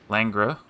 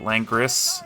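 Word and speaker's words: Langres: So, if you remember that game on Langra. Langra. It's French. I can't pronounce it. Everybody calls it Langris, you know, if you're American.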